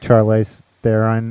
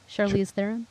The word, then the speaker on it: Charlize Theron: You look like Charlize Theron in fucking The Devil's Advocate. I said her name wrong. Charlize Theron. Charlize. Charlize. Char.